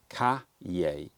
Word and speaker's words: cahier: I'm going to, the Moleskine Cahier. Cahier? Cahier. Cahier. People gave me pronunciation guides, so I'm going to try and do it for a minute because I want to learn it. Cahier.